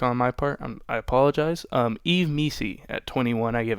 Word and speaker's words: Yves: I've been pronouncing it like Vess, which I believe that's how you pronounce it. Vess Pawn's name. So, that's a mistake on my part. I apologize. Yves Missi at 21, I give an A to.